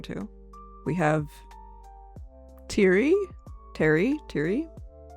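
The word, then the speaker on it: Pteri: Terry, assuming the P is silent. Poofen. I realized I didn't actually check it out. So that's Terry or Terry.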